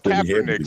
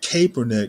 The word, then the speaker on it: Kaepernick: was a a leader it's it's Kaepernick Stanley it's Kaepernick Kaepernick well I'm pronouncing it kernick now for cap that's